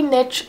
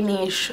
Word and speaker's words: niche: Some people say niche, some people say niche, whatever.